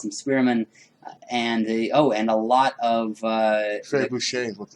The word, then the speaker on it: trebuchet: Trebuchet. Firing from inside. Whoa, how did you pronounce that? Trebuchet. God damn, all these years I thought they were called trebuchets.